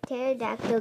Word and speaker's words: pterodactyl: can't you hear a pterodactyl go to the bathroom anyone it's because the PE is silent okay do I have